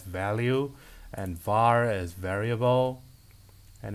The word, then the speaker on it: val: For defining variables, val is the keyword that can only be assigned once, which is to me pronounced as value, and var is variable, and it can be reassigned.